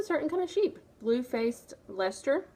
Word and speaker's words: Leicester: Blue-faced Leicester, which is not spelled like Leicester. but that's how they pronounce it.